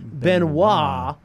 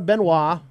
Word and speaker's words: Benoist: yeah no kidding so Melissa Benoit I'm French so we'll pronounce it that way wins Best Actress for